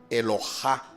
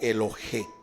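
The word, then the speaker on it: אֱלוֹהַּ: Se escribe con la misma letra, Elohá o Elohé, la misma letra, solo que los judíos le agregaron unos puntos vocálicos que al colocarle, al señalarle en esa letra el punto vocálico, cambia la pronunciación, pero se escribe de la misma manera.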